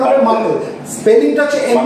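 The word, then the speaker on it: Merkel: এই মাকল সেলস এর সঙ্গে কিসের সম্পর্ক রয়েছে মার্কেল না মাকল উচ্চারণ হবে মাকল স্পেলিংটা হচ্ছে এম ই আর কে ই এল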